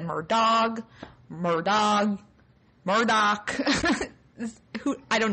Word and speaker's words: Murdaugh: scheme of it i'm going to go with murdah because that's how it google says it's pronounced and that's how it looks to me